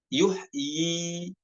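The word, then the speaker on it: يُحْيِي: Albaqarah 258 yuhyiumit nah pada kata yuhi di sini dibacanya dibacanya dua harakat y nya ada Walaupun ynya sama-sama ada di ujung ya dibaca Tetap yuhyi bukan dibaca sukun bukan Yuh bukan namun dibaca yuhyi seperti itu nomor en pada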